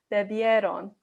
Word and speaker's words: bebieron: And I know the I-E-R-O-N sounds kind of weird because it sounds like there's a Y instead, but it's bebieron when you say it fast enough.